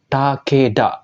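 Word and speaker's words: 竹田: sawah kayak gini ya minazang dia akan dibaca Takeda nah ini nama keluarga ya minazang nama keluarga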